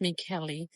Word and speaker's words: Michele: I decided I might have another one in the large greenhouse, but the first Michelle, or Michele, I believe it's pronounced Michele.